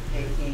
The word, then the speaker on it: taking: it로 끝나면 take는 taking. taking이고요. 이거 자꾸 talking이라고 읽는 이상한 애들 있어.